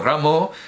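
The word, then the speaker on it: Rameau: pueden estropearlo como cuando ramo hizo reajustes claro digamos Ram que es como lo pronunciar como lo pronunciaría él hizo reajustes en la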